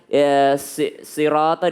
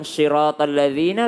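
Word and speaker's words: صِرَاطَ: Banyak kesalahan di sini membaca sod itu seperti dia membaca syah. Bedakan Bu, syah dan sod. Sod ini lebih dekat ke sa sebenarnya, lebih dekat ke sin ya. Jadi kalau ada orang susah membaca sirata, dia bilang syiratal ladzina, lebih baik dia baca siratal ladzina, lebih dekatlah ke huruf sod dibanding dia bilang syiratal ladzina.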